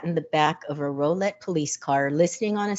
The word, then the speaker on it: Rowlett: quiet suburban neighborhood in Rowlett. Rowlett. I want to say Rowlett, but I did the pronunciation and it's row, just like row, row, row your boat.